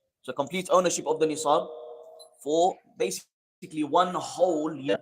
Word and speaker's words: Nisab: Nisab is a technical word which I will explain. Nisab with a sad. Yeah, if you want to spell it in English, Nisab.